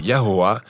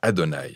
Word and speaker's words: YHWH: Mais aucun Israélite n'a jamais prononcé Yahoua, car c'est simplement un rappel visuel invitant à dire Adonai.